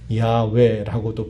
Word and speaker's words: 야훼: 알려주신 이름이 여호와 혹은 이 말을 다른 말로는 야훼라고도 불러요.